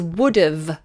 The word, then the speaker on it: would've: the next one is would've would have it's short for and we say would've would've and notice that it becomes like a schwa would would would've would've it's very lazy would've would've I would've